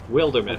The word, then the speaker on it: Wildermyth: Wildermyth. Wilder Myth. Oh yeah, suppose we're actually verbally talking now. I can tell you how to correctly pronounce the game. It's Wildermyth.